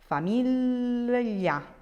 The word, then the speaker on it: famiglia: Famiglia, famiglia, famiglia.